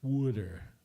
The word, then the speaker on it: Wooder: And Wooder, it's spelled Wooder, W-U-D-E-R. Just remember that. So anyway, there's no R in that word.